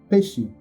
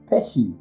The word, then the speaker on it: Pesci: How do you say it in Italian then? Pesci. Pesci. Okay, Pesci. Pesci the fishy.